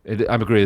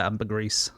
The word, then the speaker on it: ambergris: Ambergris is also poo. Sure. Yeah. And is it, because I always want to pronounce it ambergris, but I feel like I call it ambergrease.